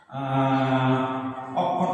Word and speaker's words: অক্ষত: যেমন অক্ষত আমরা বলতে পারি, তাহলে এর উচ্চারণটা আসে এরকম অ ক অ খ ক্ষত, এইভাবে আমরা উচ্চারণটা দিতে পারি।